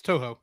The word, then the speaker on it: Toho: Produced by Studio Ghibli, distributed originally in Japan through Toho. Did I say it right? Toho? Yeah, it's Toho, Toho.